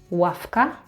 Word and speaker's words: ławka: Or "ławka", "w" is pronounced as [f].